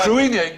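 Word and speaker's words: Cruithne: Kissy is the spelling exactly right. But supposedly pronounced creamy or something like that. Well, cruine was discovered in 97.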